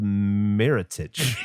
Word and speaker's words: Meerrettich: The name horseradish is believed to be a mispronunciation of the German word Meerrettich, which means sea radish. Meer sounds similar to the English word mare, which led some to mistakenly associate it with horses.